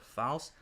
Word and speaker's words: Faust: German word oh I think that's how you pronounce it Faust huh FA UST false yeah fast so it's